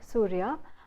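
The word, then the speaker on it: Suria: channel which is called Surya, which is spelled as S-U-R-I-A, and it's spelled Surya, and I see a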